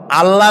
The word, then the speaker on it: আল্লাহ: বলেন তো আল্লাহ নয়।